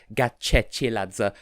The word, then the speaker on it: Gachechiladze: and yes I looked it up it is pronounced gat chechi lads sir because it's spelled with the letter cheney a